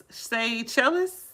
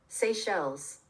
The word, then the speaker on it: Seychelles: Seychelles? I'm not sure if I'm saying that right. Seychelles? Let me Google how to say it. How about that? Seychelles? Mauritius? Let's see. Seychelles.